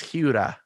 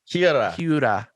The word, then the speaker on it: Hiura: Well, you do it pretty well, but you make kind of a D sound and it's Hiura. Hiura.